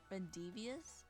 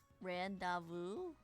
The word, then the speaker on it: rendezvous: Rendevious? I think that's what it said. It's late for me. I don't know how to pronounce words when it's late for me. Rendezvous? Rendezvous. Rendezvous. Why is it like that? Is it French? Is that where it comes from? Is it like a French word?